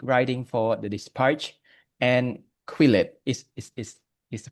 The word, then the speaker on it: Quillette: So, Jay currently is the a Cambodian journalist, political essayist, and cultural critique writing for The Dispatch and Quillette. Is Is Is Is it pronounced right, Quillette?